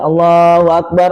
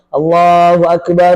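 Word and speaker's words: الله أكبر: ya Ramadan Idul Fitri bunyinya enggak boleh Allahu Akbar, Allahu Akbar Allahu Akbar. Salah. Harusnya Allahu Akbar. Allahu Akbar. Allahu Akbar. Lailahaillallah. Allahu Akbar. Pokoknya ee jeda nafasnya harus jelas kalau mau disambung.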